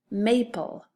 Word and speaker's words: maple: Maple. M-A-pull. This time we don't double because this A is a long A and we want it to be an open syllable, so it says may.